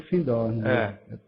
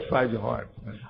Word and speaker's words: Findhorn: Eles pronunciam Findorn. Não, mas é Findhorn.